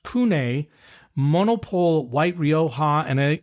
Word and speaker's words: CVNE: It's all capitals, but it's actually pronounced Kune Monopole white Rioa.